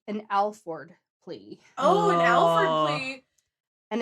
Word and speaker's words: Alford: Oh, an Alford plea. And it's That's Alford, not Alford. Alfred. I had been saying it wrong for many years, even though I knew what it was.